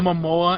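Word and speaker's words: Momoa: or something really cuz his name's Mamoa and it rhymes with Samoa I will I racist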